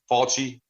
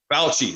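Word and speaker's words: Fauci: highly regarded and I'm GNA probably say his name wrong but faly faly the scientist he had fouchy F fou fouchy fouchy there we go I can never my wife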